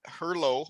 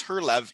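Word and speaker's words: Herlev: hull to the hurlett herlow i think is how they say it but it's her love eagles which that's in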